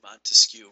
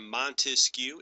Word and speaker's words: Montesquieu: A good way to remember this is Baron de Montesquieu is three different words, or even Montesquieu is three syllables.